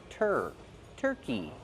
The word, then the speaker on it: turkey: decoys or decoy turkeys how do we pronounce turkey turkey use the Earth sound like Burger tur turkey plus a long e sound like green beans these are fake turkeys